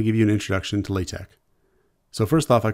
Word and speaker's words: LaTeX: And the pronunciation of LaTeX, that goes back to the people that created it. But Donald Knuth is a famous computer scientist, and he said it's pronounced LaTeX.